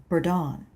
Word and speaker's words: Bourdon: "Ah, so it's French," I said, revealing the extent of what remained from my 2 semesters of college French. "Yes," he said, "though we pronounce it Bourdon."